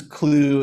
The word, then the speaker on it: Clew: does clue do so this is clue it's spelled c-l-e-w so if you're looking